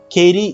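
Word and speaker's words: Katie: আবার দেখেন কেইরি ইজ কেইরি, নট কেইট। কেইটিকে আপনি কেইট বলতে পারেন না, কেইটিকে কেইরি বলতে হবে, কেইরি। বাংলাদেশে তো বলে কেটি, কেটিও wrong, কেইরি, that's how নেটিভ speaker speak.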